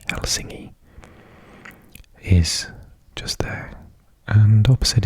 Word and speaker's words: Helsinki: And Helsinki, or as it's pronounced in Finnish, Helsinki, is just there.